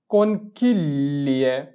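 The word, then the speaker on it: conchiglie: জিটাকে এলে ধরে উচ্চারণ করবা, তাহলে তোমার জন্য উচ্চারণটা মিলানো একটু সহজ হবে।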